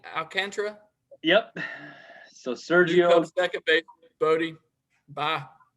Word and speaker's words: Alcantara: ahead sergio how do you say his name alcantra yep so sergio bodie bye bodhi 23 ribbies